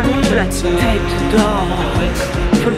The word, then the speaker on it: Tête d'Or: Nous arrivons à rue de la Tête d'Or. Faut le prononcer comme ça, sinon c'est pas juste.